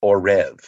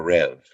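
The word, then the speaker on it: עורב: about Raven So Raven in Hebrew is orrev or rev uh that's spelled um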